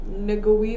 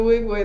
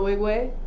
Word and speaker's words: Nwigwe: we're reacting to toby niggawii we hmm that is i know i am positive that is not how you pronounce his name no no no no